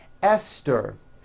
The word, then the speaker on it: Esther: spelled with a TH, they are pronounced as if they were spelled with a normal T, like that. And these words are Thomas, Thompson, Teresa, Thailand, Thames, like the river, Esther, and thyme, which is a spice.